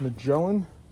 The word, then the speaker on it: Magellan: them out these are I believe they're pronounced Magellan and they are waterproof it is spelled m-a-g-e-l-l-a-n I'm going with Magellan uh I make yellow